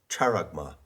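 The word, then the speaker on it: χάραγμα: the word character now i often mispronounce greek words by putting the accent in the wrong place so i have said character but no it's charagma and charma is a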